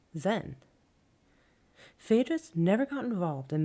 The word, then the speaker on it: Zen: the most important is the Sanskrit Diana mispronounced in Chinese as Chan and again mispronounced in Japanese as Zen thedas never got involved